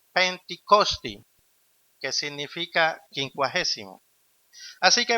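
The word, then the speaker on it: Πεντηκοστή: Pentecostés proviene de la palabra griega pronunciada Pentikosti, que significa quincuagésimo.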